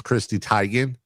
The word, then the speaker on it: Chrissy Teigen: Chrissy Teigen. Yeah, and it's Christy Teigen. That's how it's pronounced.